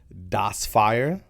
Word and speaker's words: DSFEYA: I pronounce it Das Fire. Oh, you see what I'm saying? Yeah. It doesn't say that. It's not phonetically accurate, but that's okay.